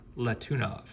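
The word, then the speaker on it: Letunov: for you new collectors if you don't know how to say their name it actually gives it to you right there la tuna for the sharks so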